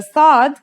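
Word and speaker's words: ص: in this lesson is sod the sod is basically the strong version of the scene we learned in the last lesson and it kind of sounds like the s in the word saw this sound is pronounced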